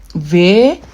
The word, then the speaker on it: W: V. W is also pronounced V. So you can see that's like a change. Veta. That's Veta. Vas. I need to write well, sorry. Vas.